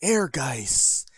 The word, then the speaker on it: Ehrgeiz: so you can even see that's how it's pronounced air guys god bless the ring yeah and we'll we'll